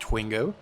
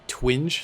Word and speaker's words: Twingo: If you're referring to the channel name, it's pronounced Twingo. I'm known an NPC call me Twinge sometimes because I think